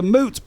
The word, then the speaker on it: moot: Thankfully, I'm not playing, and it's not a 1v1, so all of that is a moot point. Moot that rhymes with boot, thanks to who put me right on that about a year ago.